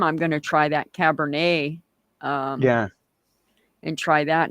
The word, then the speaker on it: Cabernet: A yeah, you call it Cabernet, yeah, yeah. We go to wine, it's the French names, so we pronounce it really like the French ones people do.